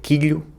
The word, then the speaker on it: quilo: chosen for that, because in both accents, especially Madeira, the letter L - the sound L - is replaced by the sound LH when it comes after an I and before a vowel. Quilo (Kilo) becomes “quilho”, elástica (elastic) becomes “elhástica” and mochila (backpack) becomes “mochilha”. The third sentence is: "The